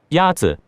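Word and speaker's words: 鸭子: Is it Yazi? Yazi Is pronounced with a first tone. In Mandarin, there are 4 tones, which are essential to distinguish the meaning of words. The first tone is a high, level tone.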